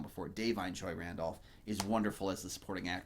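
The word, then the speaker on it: Da'Vine: in this movie uh Divine uh dine Joy Randolph I'm sorry I've said it wrong before dine Joy Randolph is wonderful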